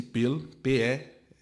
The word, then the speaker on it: Peel: chefiada pelo Lord Peel, se pronuncia assim Peel, P-E-E-L, se você quiser dar um Google aí, Comissão Peel fez o primeiro plano de partilha da Palestina.